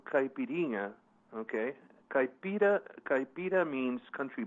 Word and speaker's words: caipirinha: okay yeah you know you know it's called caipirinha okay capito capito means country bumpkin so caipirinha